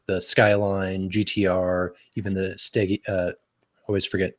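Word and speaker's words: Stagea: Skyline, GTR, even the Stegia. Always forget how to say it. Stagia. All right. Some people say Stagia, some people say Gia, but yeah. I call it a Stagia.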